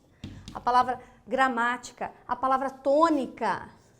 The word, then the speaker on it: tônica: Terceira sílaba de trás para frente forte, tônica, ela é uma proparoxítona.